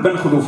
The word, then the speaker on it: بن خلوف: بن خلوف هنا اردت ان اقول بن خلوف الواو ما يحسبش خاطر كي تنطق تقول بن خلوف ما تقولش بن خلوف تحسب الباء زوج والنون 50 والخاء الى اخره كي تحسب تصير 732 الواو ما ينطقش كذلك بو علام الواو